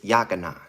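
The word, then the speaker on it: Yochanan: And how you say his name in Hebrew is Yakanan.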